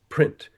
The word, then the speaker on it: prints: How do you pronounce the base in the word prints? Prin. That is doing the oral morphology and linking it to the written morphology. And that's where we see, the T is still there even though I don't pronounce it.